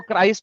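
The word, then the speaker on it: Christ: Okay अबे अबे anti क्रिस्ट की कुछ लगती है वो क्राइस्ट होता है क्रिस्ट नहीं होता अपनी प्रोनाउंसिएशन बताइए यस लिखा हुआ है वहां ऊपर।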